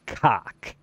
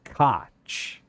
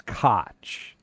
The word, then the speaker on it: Koch: It's not cock, okay? That's the thing. It's Koch. It's Koch.